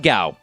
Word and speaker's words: Gau: He pronounced it Gao, which I thought was kind of funny. But according to Japan, it's pronounced Gao.